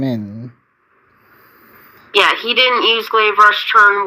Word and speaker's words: Glaive Rush: Yes, Glaive Rush.